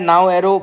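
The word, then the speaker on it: Naoero: पहले देखो लिखा है नाउ एरो प्रोनाउंस किया जाएगा इस बार नाम को।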